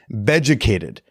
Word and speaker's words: Beducated: Beducated. It's spelled like educated, but with a B, because, it's for stuff in the bedroom.